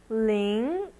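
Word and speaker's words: 零: and zero zero looks really complicated but we'll pronounce it Ling L Ling 4 zero Ling and a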